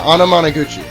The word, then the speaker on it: Anamanaguchi: I think I'm pronouncing that right. Anamanaguchi? Yeah, Anamanaguchi. I looked it up.